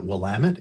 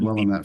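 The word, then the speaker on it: Willamette: I went to law school at Wamut in Oregon.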